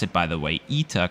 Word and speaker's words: ITA: it by the way ETA coming from Italia the Italian word for well Italy before flying for ITA